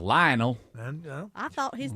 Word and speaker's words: Lionel Messi: Lionel Messi. Lionel? It's Lionel. Properly, it is Lionel Messi. But here in the South, Lionel.